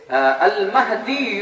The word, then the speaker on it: মাহদী: ইমাম মেহেদী আসলে আল মাহদী, আমরা মেহেদী বলি আর কি।